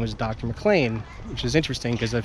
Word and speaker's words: McLean: mcclain which is interesting because a few episodes I